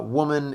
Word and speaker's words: woman: And good luck pronouncing uh woman and wood correctly. And just remember that you always round them. Whenever you make W in English, it's always rounded. You always have to go W.